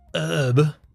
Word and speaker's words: herb: They ignore it, just like they do in the word herb. There's an H at the front there, but they don't say it, do they?